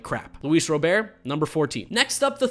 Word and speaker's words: Robert: baseball i got luis robert two things i gotta say one it's pronounced robert there's a video on youtube where he talks about says encuba is robert and he says in america it's robert so like i'm